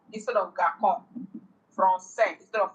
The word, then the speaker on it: français: Okay, so it is just used to soften C to give it an S sound. Garçon instead of garçon. Français instead of franquin.